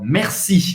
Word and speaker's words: merci: Então, merci. Você vai pronunciar o R no meio.